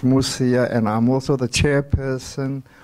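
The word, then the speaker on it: Mosia: The surname is M-O-S-I-A, pronounced Musia, and I'm also the chairperson of Kayala Gunya Human Development.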